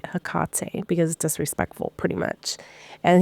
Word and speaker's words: Hecate: was like okay well you don't say her name HEC you say hak because disrespectful pretty much